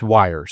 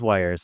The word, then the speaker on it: Weiers: then I felt terrible so it's wires yeah it is wires and I apologize and